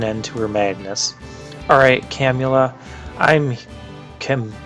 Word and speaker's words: Camula: to put an end to her madness alright camula i'm kim camellia i'm seeing her name on here is what's making me pronounce it poorly I'm here for my friend